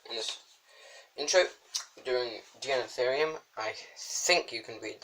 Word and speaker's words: Deinotherium: It's pronounced Deinotherium, well, on this anyway.